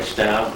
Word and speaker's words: Staub: And, your name is Staub, right? Right. You pronounced it right.